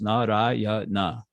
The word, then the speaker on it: Narayana: And Narayana has four syllables. Narayana. Those four syllables.